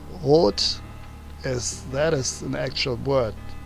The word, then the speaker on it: Rot: It would actually be pronounced totally different with an umlaut, and wouldn't make any sense. That word with an umlaut doesn't exist, so it would be röt instead of rot, Rotschreck.